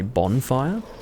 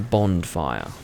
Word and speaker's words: Bondfire: It's really confusing when you write Bondfire, because it makes me want to say bonfire, but it's actually Bondfire. And part of the reason why I clarified that was so that people didn't think that I pronounce bonfire as Bondfire.